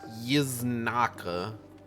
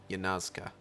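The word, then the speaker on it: Yanxia: Yiznaka. That's not how it's pronounced. Yanazka.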